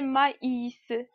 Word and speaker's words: maïs: poids il faut sur la voyait qui précède le i séparément comme des maïs comme des maïs remarquez